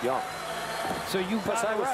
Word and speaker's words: Jung: Texas announcers told me by the way it's pronounced young so you but I was familiar with him